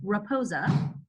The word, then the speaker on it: Rapoza: But this week we've got Cathy, and I make sure I'm saying it correctly, Rapoza. That's correct.